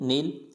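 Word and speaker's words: know: नो, यानी यहाँ पे भी के साइलेंट है, नो, NOW, नो।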